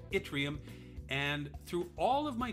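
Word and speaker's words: yttrium: table the answer is itrium spelled with a y but pronounced itrium and through all of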